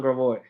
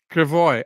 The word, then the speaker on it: Gravois: well, it's supposed to be, but in St. Louis, everything is pronounced the way it looks.